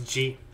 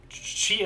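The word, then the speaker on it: じ: You pronounce this as G. This character is an exception in this set. It's not a Z syllable. Just for everyone to notice. So we write G as normal, then add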